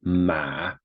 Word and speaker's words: 吗: So you can tell by the right-hand side of the character that it's pronounced ma, M-A.